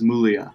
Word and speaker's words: Muglia: My family says Muglia. Muglia. Where the G is silent.